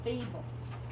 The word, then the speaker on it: feeble: one of them out so that's actually only a two syllable word and it says fee bull feeble okay now so we're